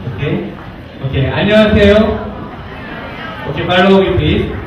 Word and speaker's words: 안녕하세요: Someone, you already know Korean language, but I will do correct pronunciation, okay? Okay, 안녕하세요. Okay, 바로 오기 please. 안녕하세요.